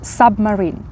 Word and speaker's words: submarine: їжа сама є ще Submarine Submarine - це субмарина так тобто У нас є це суп знову ж таки Але тут важливо запам'ятати що вимова буде іншою буде сап а не суп так і mering -